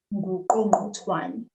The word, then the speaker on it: nguqongqothwane: Igqirha lendlela nguqongqothwane. Nguqongqothwane. So let's say the word each syllable. Ngu. Ngu. Qo. Qo. Ngqo. Ngo. Twa. Twa. Ne. Ne. Nguqongqothwane.